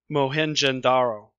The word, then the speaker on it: Mohenjo-daro: is her Appa and the other one is mohenjo-daro so very phonetic pronunciations were these cities what they were actually